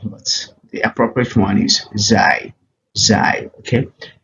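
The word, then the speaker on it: ز: the appropriate one is z z okay this is just the z sound in English language for instance if you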